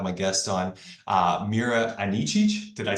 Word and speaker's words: Anicic: honored to have my guest on uh Mera anichi did I say that right yes did I pronounced it right okay um so Mera thank